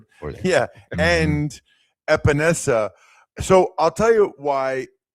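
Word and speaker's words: Epenesa: Um and help me say his name, AJ Epanessa. Epanessa.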